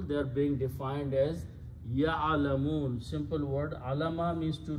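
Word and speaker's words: يَعْلَمُونَ: and you pronounce liqawmi ya'alamun. Actually, it is the word ya'alamuna, but when you stop, you pronounce ya'alamun.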